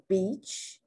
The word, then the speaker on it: beach: e sound that they make sure that they do not pronounce the long e sound like the short i because in two instances one is beach if you pronounce that e a like a short i it becomes a vulgar word people use it and